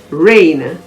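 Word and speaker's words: reign: by an n additionally if the word ends with gn the g is usually silent examples are cosine c-o-s-i-g-n rain r-e-i-g-n nat g-n-a-t no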